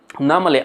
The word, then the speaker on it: normally: ওকে, আচ্ছা, নর্মালিটাকে বলবেন নর্মালি, নর নয়, রটা, অর্থাৎ আর আগে ভাউল থাকলে আরটি কিন্তু ব্রিটিশ অ্যাকসেন্টে সাইলেন্ট হবে, তাই নর্মালি নয়, নর্মালি. Normally, I go running a few times a week.